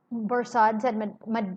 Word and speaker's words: Barsad: Borsad, said Defarge, making it French by pronunciation, but he had been so careful to get it accurately that he had spelt it with perfect correctness.